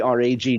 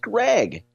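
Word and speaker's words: Gragg: It looks like Greg, G R A G G. But he will tell you, you were the great via the great Garrett Bull show a couple months ago, it's not pronounced rag, it's pronounced Greg.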